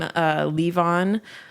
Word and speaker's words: Levon: And then my last name, Levon, it's kind of a play on an Elton John song, who is my other love and inspiration.